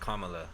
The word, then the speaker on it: Kamala: why he he chose uh her name is pronounced kamala though you know kamala harris so i i